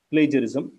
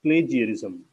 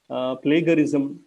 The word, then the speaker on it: plagiarism: ಆದರೆ ಜಾಗತಿಕವಾಗಿ ಅಥವಾ ಧ್ವನಿಶಾಸ್ತ್ರದ ಪ್ರಕಾರ, ಫೋನೆಟಿಕ್ಸ್ ಪ್ರಕಾರ ಹೇಗೆ ಅದು ಉಚ್ಚರಿಸಿದರೆ ಸೂಕ್ತ ಅನ್ನುವುದರ ಆಧಾರದ ಮೇಲೆ ಈ ಪದದ ಉಚ್ಚಾರ ಪ್ಲೇಜರಿಸಮ್ ಅಥವಾ ಪ್ಲೇಜಿಯರಿಸಮ್ ಅಂತಾಗುತ್ತೆ. ಪ್ಲೇಗರಿಸಮ್, ಪ್ಲೆಗ್ಯಾರಿಸಮ್, ಪ್ಲೆಗೇರಿಸಮ್ ಎನ್ನುವ ಹಲವಾರು ಬಳಕೆಗಳಿವೆ. ಅವುಗಳನ್ನು ನಾನು ಯಾವುದೂ ಅಲ್ಲಗಳೆಯೋದಿಲ್ಲ, ಆದರೆ ಅವುಗಳಲ್ಲಿ ಹೆಚ್ಚು ಸೂಕ್ತವಾದ್ದು ಪ್ಲೇಜರಿಸಮ್ ಅಥವಾ ಪ್ಲೇಜಿಯರಿಸಮ್ ಅಂತ ಮಾತ್ರ ಹೇಳಬಲ್ಲೆ. ಇನ್ನು ಮುಂದೆ ನಾವು ಈ ಪದವನ್ನು